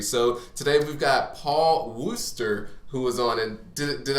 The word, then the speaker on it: Worcester: So today we've got Paul Worcester, who was on, and did I pronounce that correctly?